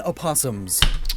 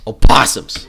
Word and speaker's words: opossum: spiel they are shakespearean opossums opossums some people pronounce the oh some people don't so on top of